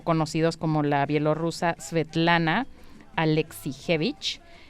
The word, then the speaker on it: Alexievich: se llama svetlana alexievich no trate de escribirlo así tal cual lo estoy leyendo obviamente no se dice así no pero es alexievich y el noruego fose